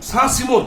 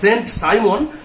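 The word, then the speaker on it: Saint-Simon: ঋণী ছিলেন এর কাছে, সাঁ সিমোর কাছে। ইংরাজি ভাষায় SAINT হয় সেন্ট সাইমন, কিন্তু একই বানান ফরাসি উচ্চারণে হবে সাঁ সিমো।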